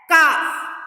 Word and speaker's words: calf: Let's move to the next hard words, that is number 25, calf. Here L is silent. calf, calf.